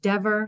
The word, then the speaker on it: Dever: since 2003 and judge Dever so let's get the pronunciation right remember it rhymes with never so judge Dever not judge Dever um judge